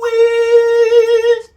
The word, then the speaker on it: wisdom: E sound of your wisdom. E again, zdum. Zd. By the way, it's not wisdom, okay?